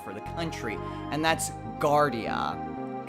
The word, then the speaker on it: Guardia: the country and that's Gardea kind of like Guardian but got the last letter so yeah that I